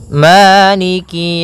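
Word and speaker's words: مَالِكِ: yaumiddiniki yaumiddin pada bacaaniki di lafal Ma ada hukum tajwid berupa madii yaitu adanya fathah bertemu dengan alif panjangnya dua harakat Maliki kemudian Kaf di sini ada huruf kasrahnya maka sempurnakan kafnya jangan seakan-akan diputus misalnyaikik jadi kemudian kasrahnya juga disempurnakan jangan sampai dibaca dengan E tapi dia iikiikiumin pada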